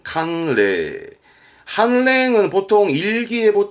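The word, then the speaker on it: 寒冷: 그러면 담보 람보에서 레단보로 묶어도 괜찮겠죠 한 랭 발음은 캉레 한랭은 보통 일기예보 때 좀 들리잖아요 요런 거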